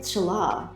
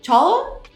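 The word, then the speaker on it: challah: recovered or returned it's pronounced like hola oh so a cinnamon cinnamon apple Chala is that it Chala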